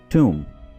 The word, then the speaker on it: tomb: इसको हमने tomb नहीं बल्कि tomb बोलना है, इसमें b प्रोनाउंस नहीं किया जाएगा, ठीक है, tomb, tomb।